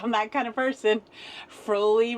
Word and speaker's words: Froli: Froli rhymes with holy for everybody who didn't know.